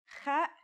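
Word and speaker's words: خاء: Kha is a sound some people make when they laugh. It's also similar to the sound people make when they snore.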